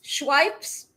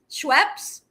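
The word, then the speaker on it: Schweppes: P P P P P P E S Schwipes. Schweps.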